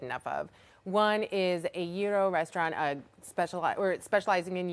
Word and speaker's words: gyro: One is a gyro restaurant, specializing in gyros. I got the pronunciation right.